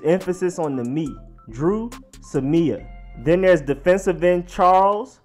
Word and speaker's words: Samia: you have offensive guard drew Samia so not Samia or Sammy ax it is emphasis on the meet drew Samia then there's defensive end Charles or Menna who